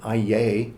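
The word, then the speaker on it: αἰεί: And that's why in the ancient Greek language, the so-called locative of Aiōn, and I'll pronounce it Aiei, A-I-E-I, which is a form of Aiōn, is the ordinary way that people say forever.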